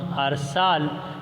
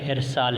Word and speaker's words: ارسال: یہ ارسال ہے، یعنی اگر آپ اور ہم ارسال تلفظ کے ساتھ اس کی ادائیگی کرتے ہیں تو اس کا مطلب ہے کہ ہم اس کے تلفظ کو بگاڑ رہے ہیں۔ یہ اس کے صحیح تلفظ نہیں، بلکہ اس کا صحیح تلفظ جو ہے وہ کیا ہے؟ ارسال ہے، اور اس کا مطلب یہ